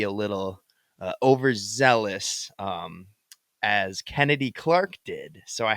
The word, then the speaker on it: Chennedy: up Kennedy Carter and that's Kennedy Carter with an H not chennedy it's pronounced Kennedy um but Kennedy checked